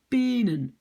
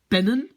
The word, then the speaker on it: pennen: Mais si j'écris ça comme ça, je vais lire de penen. J'ai fait une vidéo sur ça, syllabe ouverte, syllabe fermée. Regardez-la, ça c'est très important pour savoir écrire correctement en néerlandais. Mais donc, qu'est-ce que je fais pour que je prononce quand même pennen?